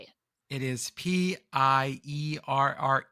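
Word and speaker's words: Pierre: R E and it it's like pure like Piers Morgan type pronunciation.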